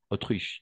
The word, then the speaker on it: Autriche: ça mettre excellent et on va prononcer autruche d'accord autre Autriche d'accord Autriche et cette masculin singulier